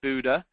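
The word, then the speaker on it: Bodø: to the town of Buddha it's uh spelled Bodo but pronounced Buddha and there is a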